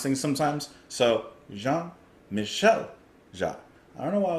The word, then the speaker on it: Jean-Michel Jarre: I just like forget how to pronounce things sometimes. So Jean-Michel Jarre.